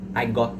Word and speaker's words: got: fluido a sua pronúncia, você não vai falar as letras no final das palavras. Então, você pode perceber que eu não estou falando o T no final do got. Então, I got sad.